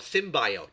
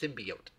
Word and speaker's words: symbiote: I think they call it symbiote is what they call it. That's not how it's pronounced. It's pronounced symbiote.